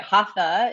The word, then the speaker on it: Hatha: Hatha is what we typically call it.